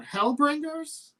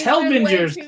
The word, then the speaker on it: Hellbenders: is his plug for hellbringers yeah you should purposely say the name wrong just to screw with them hellbenders it's hellbenders he's been so fantastic to